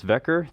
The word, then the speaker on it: Vecker: It's not pronounced Fetcher, it's Vecker.